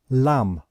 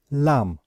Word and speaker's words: lamb: word we pronounce it lamb lamb so we know that we do not pronounce the last letter B okay so with IPA